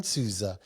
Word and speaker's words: Souza: except we have the pleasure of interviewing Aaron Susa did I pronounce that correct Aaron Ain sua yes yep Aaron soua and we're going to be discussing uh you